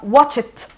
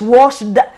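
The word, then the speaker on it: watched: ما اسمها واتش يشاهد، لكن انا ضفت لها الاي دي اسمها واتشت. اوكي، لو ممكن اسك اسكت، واش واشت مش واشد، هي طبعا اخرها اي دي لكن انا بنطقها تي، زي ما احنا بنشوف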